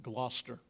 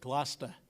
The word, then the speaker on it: Gloucester: the way ours were in Gloucester if you ever been up to oh sorry I mispronounced that glast Massachusetts and uh I